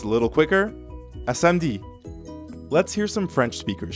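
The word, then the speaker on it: samedi: spoken language gets messy so instead of a samudi you're more likely to hear a french speaker say smd it means the same thing see you saturday smd now let's practice this more common pronunciation repeat after me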